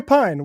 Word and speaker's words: Pein: a pass just like if they mispronounce my last name it's you know am I doing that no Pine is Pine is right you got it I